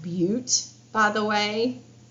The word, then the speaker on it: Butte: yellowstone that is pronounced butte by the way i know what it looks like but it's beaut okay so there's grand